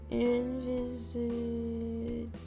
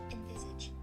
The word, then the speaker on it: envisage: Envisage. Can you pronounce it for me? Girl. Envisage.